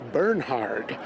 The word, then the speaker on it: Bernhard: He said, "You people here in the United States, they don't pronounce Bernard, it's Bernhard.